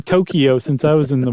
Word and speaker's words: Tokyo: Or I should say Tokyo. I I've I've been saying it wrong. Yumi says, "Oh, Tokyo. Tokyo.